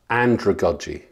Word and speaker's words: andragogy: I want you to know the word andragogy. And it's spelled, so if you think of Sandra or pedagogy, sandragogy, or andragogy is the word, not Sandra.